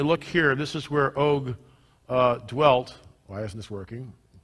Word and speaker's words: Og: og king of Bashan that's how Doug Hamm pronounces it oke the best of us pronounce it OGG we're all wrong sorry Doug I don't know what it is a oke so the